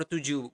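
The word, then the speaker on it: tujuh: seven is to or tuu but in basa we usually we do not pronounce the h at the end of the word so you do not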